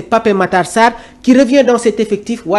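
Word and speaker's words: Pape Matar Sarr: Bapom lors d'une interview au lieu de pape Matarsar le joueur sénégalais aime prononcer Pap Matarsar qui revient dans cet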